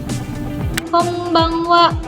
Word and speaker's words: こんばんは: Konbanwa. Tulisannya konbanwa, bacanya konbanwa. Gitu ya.